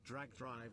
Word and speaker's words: Drag x Drive: I personally think that the $10 thing would have worked for Drag X Drive, pronounced Drag Drive like Hunter Hunter and Spy Family.